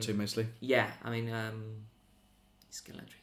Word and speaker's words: Scalextric: Scalextrics. Is that how you say it? Yeah. Yeah. Sorry, Scalextrics. Scalextrics. That's how you say it. Yes. Scalextrics.